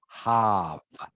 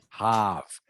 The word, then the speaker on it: half: remember it is pronounced half half so the L is silent uh half so it